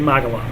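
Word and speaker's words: Magelang: more perfect than that probably not pronounced amazing it's actually magalon um but uh yeah it's you know we always call it Mage laying um and we had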